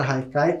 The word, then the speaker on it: Haikai: podem ver a palavra Haikai como ela é de origem japonesa se escreve com h mas tem esse som de R e muitas vezes pode